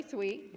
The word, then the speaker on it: Thweatt: Okay, first of all, I had to ask him how to pronounce his last name. So it's Charley Thweatt, and he's our today's guest speaker, and he's a musician.